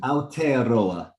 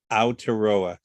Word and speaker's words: Aotearoa: It means the land of long white clouds, and you pronounce it Aotearoa. Aotearoa.